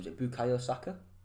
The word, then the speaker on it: Saka: I think if they can really maybe give, I don't know how to pronounce his first name, is it Bukayo Saka? Saka, yeah.